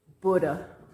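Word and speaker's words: Bodø: I went up to Buddha, which is spelled B O D O. It's pronounced Buddha.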